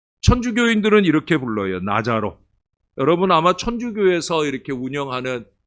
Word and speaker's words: 나사로: 하는 근데 사실은 우리는 나사로 이러는데요 발음이 거의 지읍 발음이에요 그래서 사실은 나자로 해야 맞아요 천주교인들은 이렇게 불러요 나자로 여러분 아마 천주교에서 이렇게